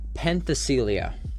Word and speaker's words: Penthesilea: So in this patch we actually got a new character called how do you pronounce her name? Penthesilea. So Penthesilea is new.